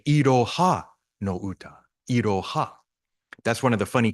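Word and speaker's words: いろは: say Iroha no Uta, Iroha. That's one of the funny characters where ha can also be pronounced wa when it's a subject marker.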